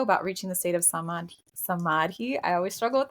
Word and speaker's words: samadhi: Number 4, personal liberation and the potential of reaching samadhi, the state of oneness.